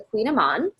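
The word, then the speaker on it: Kouign-amann: So my favorite pastry is the Queen Amman. This is spelled way differently than it's pronounced, and if you see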